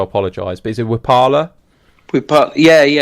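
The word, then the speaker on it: Wiphala: 4, is the, I don't know how to pronounce this, so I apologise, but is it Wipala? Yeah, Wipala.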